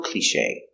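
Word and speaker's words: cliché: that's such a cliche pronunciation cliche CLE with a long e sound clear soft cliche analysis with a cliche the accent is on this syllable cliche that's a cliche the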